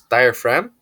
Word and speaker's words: diaphragm: this is for females using diaphragm this is pronounced as diaphragm so this prevents the spurns from entering the